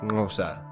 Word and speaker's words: Xhosa: the local san people hence cosa is usually pronounced something like gnosa but i think it's